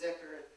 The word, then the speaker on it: dhikr: That word itself is dhikr, or it would be pronounced as zikr, like a lot of these words are pronounced but it means the